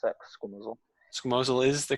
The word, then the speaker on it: squamosal: Is that how you pronounce that? Squamosal?